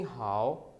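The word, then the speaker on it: 好: नी हाओ, ठीक है। हाओ, हाओ भी कह सकते हैं खे से, एच को दोनों आवाज़ों से प्रोनाउंस किया जा सकता है, हाओ, नी हाओ, ठीक है।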